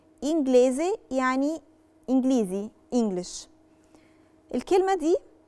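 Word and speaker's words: inglese: يعني لو عندي جي ال ما بين حرف ساكن وحرف متحرك او في بداية الكلمة، ساعتها بنطق حرف الجي. نشوف مثال عشان نفهم اكتر. كلمة انجليزي، انجليزي يعني انجليزي انجلش.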